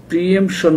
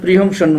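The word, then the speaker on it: pre-emption: হচ্ছে যেটাকে আমাদের দেশে প্রিএমশন বলে। প্রিএমশন আসলে প্রিহমশন মনে হয় একসাথে বলে, কিন্তু বানানটা যেটা আমি দেখেছি সেটা হচ্ছে PRE ড্যাশ দিয়ে এমশন, EMPTION, প্রিয়মশন।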